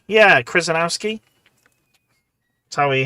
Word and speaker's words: Krzyzanowski: 11th core problem, you'll have to learn how to pronounce Krzyzanowski. Krzyzanowski. Yeah, Krzyzanowski.